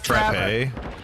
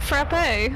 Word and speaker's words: frappe: It's because they put an E at the end of it. A frappe. Because it's not English.